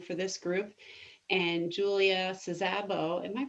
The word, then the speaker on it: Szabo: this group and julia sazabo am i pronouncing your last name correctly sabo sabi is not it's hungarian so zaba okay julius is i'm